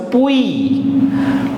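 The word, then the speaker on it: puis: P is pa, and together it becomes Pui.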